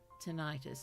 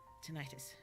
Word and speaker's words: tinnitus: Tinnitus, I'm pretty sure is the pronunciation. Thank you. I will try to remember that. Tinnitus. Sounds sort of more scientific, at least, than tetanus. Tinnitus.